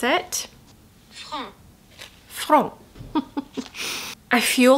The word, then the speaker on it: Franc: Okay, now we're going to jump in to Rouge Franc, and that is how you pronounce it. Franc.